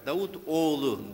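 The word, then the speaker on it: Davutoğlu: Since he had difficulty for my name, my last name, pour mon nom, to clarify, Davutoglu.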